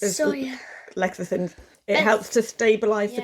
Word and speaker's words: lecithins: emulsifier, lentil fizz. I'm not sure how to pronounce that word. It's Soya. lecithins.